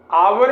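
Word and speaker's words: hour: example आपके सामने है अवर में हमने हा साइलेंस है और आपको भी इनका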